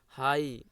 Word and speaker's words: high: High, GH here is silent.